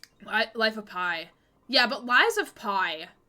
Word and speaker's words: Lies of P: Alan Wake 2, Hi-Fi Rush, Lies of P, which I originally thought was called Lies of Pi, because it rhymes.